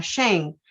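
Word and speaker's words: שם: tiene por por significado shen sí que se pronuncia así como como suena shein sí la definición la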